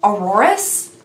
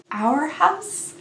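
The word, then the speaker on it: Arhaus: high-class elegant expensive but it's actually pronounced our house like our house our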